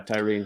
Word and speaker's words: Tyre: Also, somebody pointed out that it's pronounced Tyree, so apologies for that. Sorry, yeah, Tyree Nichols.